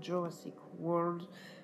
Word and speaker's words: Jurassic World: Et voilà, maintenant, peut-être lancer une petite série sur Jurassic World. On la prononce à l'English et non la French, à la française.